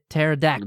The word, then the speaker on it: pterodactyl: does start with a P which is silent so that makes it very confusing just like terod P pterodactyl that bird thing right yeah